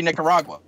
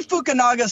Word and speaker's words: Fukunaga: Cary Nicaragua. I was gonna say it wrong too. But that joke totally got blown out of the water, so thanks for nobody correcting me. Anyway, so Cary Fukunaga still has a screenplay credit.